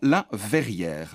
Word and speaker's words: La Verr'Hier: au crâne brillant et nous partons au restaurant La Verrière alors attention verrière s'écrit V e r r apostrophe puis h